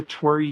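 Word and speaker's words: torii: It's called the Tori Gate, which makes me happy. It's not spelled like my name. It's spelled T O R I I, but it's um it's a Japanese um gate.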